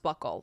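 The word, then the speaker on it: buccal: It's it's pronounced buckle like like a belt buckle.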